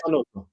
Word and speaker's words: Zanotto: Have we pronounced that right? Yeah, Zanotto. Yeah, Zanotto.